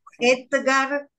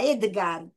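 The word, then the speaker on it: Etgar: Bueno, Edgar, E-T-G-A-R, Edgar Keret. es un nombre muy interesante porque Edgar en hebreo significa desafío Así es, y suena muy parecido a Edgar.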